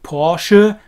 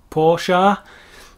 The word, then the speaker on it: Porsche: also have mercedes-benz and porsche or porsche go back to our difficult e on the end of a word would of course be in german porsche this very nicely defined e that isn't porsche then we have mercedes